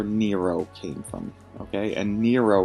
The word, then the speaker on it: Nero: came from okay and nero rhymes with zero that's the whole idea